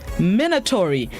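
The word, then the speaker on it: minatory: the day is mandatory minotaury it's spelled m-i-n-a-t-o-r-y minotaury it's an adjective which means menacing or threatening despite the similar song minotaury isn't related to the name of the minotaur a human bull hybrid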